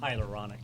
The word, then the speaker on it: hyaluronic: Hyaluronic.